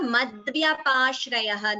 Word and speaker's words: मद्व्यपाश्रयः: All of you please note here madvyapashrayah. Note the pronunciation. Madvyapashrayah. V and ya and da. All three letters should be heard.